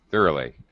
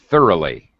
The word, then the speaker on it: thoroughly: that through organization oh yeah here it is thoroughly thoroughly yes or and that's the adverb of course